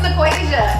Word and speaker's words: Nequasia: Pronounce your letters. Nequasia. She's also a teacher. Yes, I am. She's also a teacher. I'm like, you did not pronounce that A. I'm like, I'm sorry. I'm sorry. Okay, no, I had to. I'm in the corner by myself practicing. I'm like, Nequasia. Nequasia. So once again, No H.